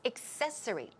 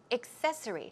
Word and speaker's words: accessory: mmm accessory is the wrong pronunciation accessory the stress goes right there so it's accessory accessory and then she asks